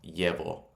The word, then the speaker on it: llevo: In Colombia, it'd be like a j sound, like jeans. And in other places, it'd be more like a y. Yo llevo. Yo llevo. Yo llevo. Those are some of the different ways to pronounce it.